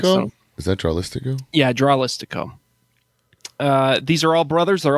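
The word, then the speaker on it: Dralístico: how they pronounce Tralistico? them. Is that Tralistico? Yeah, Dralistico.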